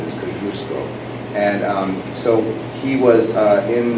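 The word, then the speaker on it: Kościuszko: places they call them Kosciusko but the correct polish way to pronounce it is confusable and so he was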